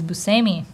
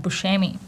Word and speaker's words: Buscemi: and I'm like, yeah, he's Buscemi, not Buscemi.